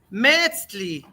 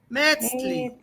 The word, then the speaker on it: Metzli: Metzli, con E larga. Metzli.